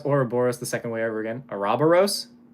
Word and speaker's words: Ouroboros: I'm still proud of my Ouroboros.